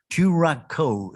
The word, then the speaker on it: Turaco: position in cote d'ivoire turakko is how you pronounce it it's a local bird of cote d'ivoire meanwhile we mate we